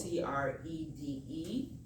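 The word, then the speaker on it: Credé: The Crede is C-R-E-D-E. Is that how you spell it?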